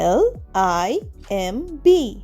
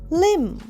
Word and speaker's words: limb: or animal, L-I-M-B, limb, এখানেও বি এর আগে এম আছে, তাই জন্যে শুধু L-I-M টাই উচ্চারণ হচ্ছে।